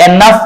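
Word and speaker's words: enough: फ फन ठीक है फिर एनफ में जी एच है लेकिन साउंड क्या आ रहा है फ एनफ राइट तो ये वाला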